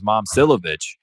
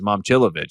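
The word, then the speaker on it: Momčilović: Last year was Momcilovic. And we've now come to figure out that it's Momcilovic.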